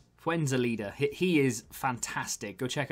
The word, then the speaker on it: Fuenzalida: card, keep forgetting how to say his name, Fuenzida? No, that's wrong. But you know what I mean. What's his name? Fuenzalida.